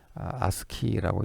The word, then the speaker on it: ASCII: 예제가 아스키 코드 저 ascii를 아스키라고 읽습니다 아스키 코드 기반의 char형을